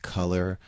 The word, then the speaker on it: Kuler: and the one thing some people will pronounce it color k-u-l-e-r let's just switch